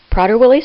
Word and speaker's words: Prader-Willi: safety of the individuals with PWS they serve prader-willi syndrome as it is correctly pronounced is a rare complex genetic disorder caused